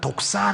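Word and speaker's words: δόξα: 그래서 여기 영화를 찾아보니까 독사 라고 돼 있어요 독사 헬라 말해 뱀을 얘기하는 게 아니에요 그냥 발음이 독사 요 그 영화롭게 하다는 독사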